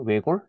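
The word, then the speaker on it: 외곬: 넓다가 대표적으로 이런게 있거든요 외골 이건 왜 굳이 아니라 왜 골이라고 바르면 리을 발음이나 여러분 리를 발음 나고요 그 다음에 우리가 비읍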